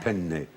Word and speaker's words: penne: It's not penne, but penne.